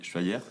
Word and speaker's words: Schweyer: Alors pour commencer Schiller, ça je prononce bien. Très très bien. Vous présentez et qui êtes-vous ? Alors effectivement, je m'appelle Schevy, je suis mulousien comme vous a priori et